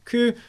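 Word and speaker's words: 九: the 6th nine six nine in japanese is pronounced as ku and six can be together in japanese kurom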